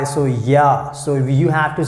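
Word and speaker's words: ja: yes then we use yeah yeah so here you can see j we pronounce like why so yeah so you have to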